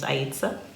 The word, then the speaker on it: Aisha: and if you're unsure my name is Aisha so that's how you say it and let's get started